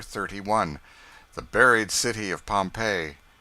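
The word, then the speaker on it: Pompeii: They pronounce it Pompei.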